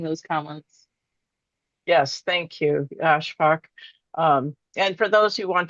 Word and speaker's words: Ashfaq: And so Ashfaq is my new pronunciation.